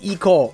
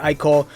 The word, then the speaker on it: Ichor: about the dam designs eco or I call I think it's pronounced as the I call I'm gonna try to train myself to say I call every single time because sometimes I just slip up and just call it the Eco but yes everyone this